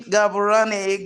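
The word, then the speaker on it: Gaborone: How do you pronounce that? The name of the location? Oh, it's actually Gabboran.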